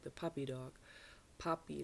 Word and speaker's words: Papi: Puppy like Pops, from Pops. Papa. It's a German version of dad. Daddy is Papi. P-A-P-I. Puppy, but pronounced just like the puppy dog.